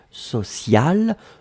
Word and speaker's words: sociale: Et donc le E à la fin, vous allez prononcer exactement de la même façon, social, mais vous devez quand même marquer le féminin puisque c'était directement lié au mot pression.